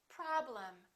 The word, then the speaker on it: problem: syllable is stressed and the e m will sound exactly the same as the am of the word madam listen madam problem this is um and this is also um because they're both reduced syllables repeat after me madam